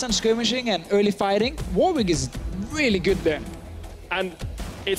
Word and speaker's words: Warwick: to lock in this Warwick, which he does. Because in England, there's a place called Warwick. Warwick. And it's spelled exactly the same.